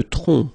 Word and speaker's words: tronc: Le tronc, okay, remember, final C is not pronounced here.